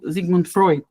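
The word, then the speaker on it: Sigmund Freud: years later he comes our beautiful Zigman Freud I'm pronouncing him in a German Way like let me use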